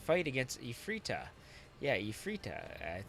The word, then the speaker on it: Ifreeta: against a frita yeah II frita I think that's how you're gonna pronounce it it's kind of a twist on Efreet which is the female